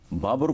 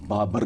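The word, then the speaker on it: बाबुर: खूबसूरत सी बात सुनो बाबर को अपने बेटे बाबु है लफ्ज बाबर नहीं है राइट नम कों को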